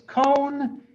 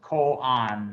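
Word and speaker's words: koan: hear people pronounce this cone because of our western mind you know you think like road oa has an oh sound no it's ko on that quan you read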